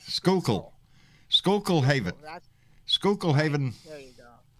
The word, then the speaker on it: Schuylkill: Just Just John, just say Schuylkill, Schuylkill Haven, That's Schuylkill Haven, there you go.